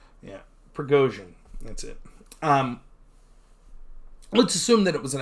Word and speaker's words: Prigozhin: Prigozhin? I don't know. the general of Wagner group or whatever there. I'm not good at pronouncing any names. Yeah, Prigozhin.